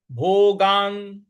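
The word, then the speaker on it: भोगान्: से बोलेंगे भंजी भोगान भोगान न पर हमको आघात देना है भोगान रुधिर रुधिर प्रदिगधान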